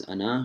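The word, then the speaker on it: أنا: So you'll write it as ana, but you'll pronounce it as ana. Again, you pronounce it without the alif, as if the alif isn't there after the nun.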